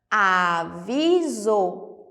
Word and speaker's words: aviso: Aviso. Mas como assim? Eu tenho um som diferente da letra S aí, não tenho?